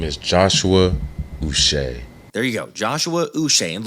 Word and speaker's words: Uche: well go ahead and clear up how to pronounce the 26-year-old's name my name is Joshua us there you go Joshua and look I know